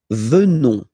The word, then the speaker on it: venons: Nous venons. Okay? O, N, S, classical ending for nous. Okay? Final S not pronounced. So O, N, on, venons.